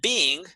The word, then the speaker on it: being: When you say being, then you have 2 syllables, being, been, being, okay?